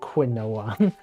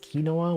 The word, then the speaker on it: quinoa: like a had kinoa I always feel like I want to pronounce it quinoa it's spelled like quinoa this pronounced quinoa which is kind of